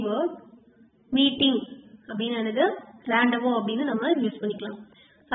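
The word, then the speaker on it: rendezvous: How to pronounce this word? Randavo.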